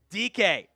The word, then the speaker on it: Dike: So Chimere Dike is the pick out of Florida. It is pronounced DK. It's not the other words that you could maybe potentially interpret that as. DK.